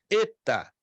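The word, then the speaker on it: ἦτα: mas ela se pronuncia eta é um e longo como em café Eta alguns dizem Eta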